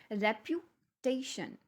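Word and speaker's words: reputation: कई सिलेबल्स हैं, लेकिन जैसे ही हम इसको प्रोनाउंस करके देखेंगे रेप्यूटेशन, तो टेशन जो हमने बोला है ना, वहाँ पे जाके जो साउंड है वो ऊपर की तरफ गई है, राइज हुई है।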